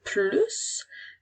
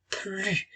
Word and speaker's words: plus: Parfois, la lettre se prononce, la lettre S se prononce. Parfois, c'est une lettre muette. Alors, on peut dire le mot plus, mais on peut également lire plus.